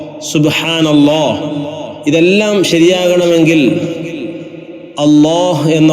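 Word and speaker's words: الله: തുടക്കത്തിൽ അള്ളാഹ് എന്ന് വരുമ്പോൾ അള്ളാഹു വഖഫ് ചെയ്യുമ്പോൾ അള്ളാഹ് ഇതാണ് ജലാലത്തിന്റെ ഇസ്മ് അതുപോലെ അള്ളാ അളാഹുമമ അപ്പോഴും കനപ്പിച്ചുകൊണ്ടാണ് തഫഹീമോടുകൂടി അങ്ങനെയാണ് അള്ളാഹ് എന്ന് ഉച്ചരിക്കേണ്ടത് ഇനി ചേർത് ഉച്ചരിക്കുമ്പോൾ ഫിൽവസ്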